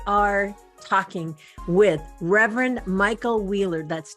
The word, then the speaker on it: Wuehler: radio as we are talking with Reverend Michael Wheeler that's w h I gotta spell this right Michael w-u-e-h-l-e-r it is pronounced wheeler but if you're looking for his